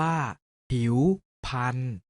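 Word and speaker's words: ผิวพรรณ: ออก เสียง ว่า คุณธรรม ผิว พรรณ ออก เสียง ว่า หิว พันธุ์ นิทรรศการ ออก เสียง ว่า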